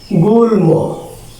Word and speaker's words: গুল্ম: এটার উচ্চারণ হবে গুল ম যুগ ম।